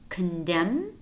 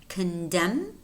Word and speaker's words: condemn: And then we have a couple of words in which the letter N is silent, namely him, him, autumn, autumn, solemn, solemn, condemn, condemn, column, column, dam, dam.